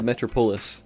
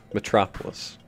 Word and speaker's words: metropolis: my brains like hey it's a metro Pulis you're still saying it wrong metropolis there you go sorry